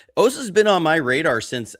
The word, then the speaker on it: Osa: I was like, his name's Osa.